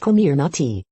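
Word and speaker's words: Comirnaty: focus on comfort and a snug fit it's pronounced kumir not tea how one of the covet 19 vaccine's name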